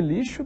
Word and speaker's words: lixo: som de ch não o x de lixo tem som de x mesmo final das contas o nome da letra é x esse nome da letra x o xis de lixo tem som de x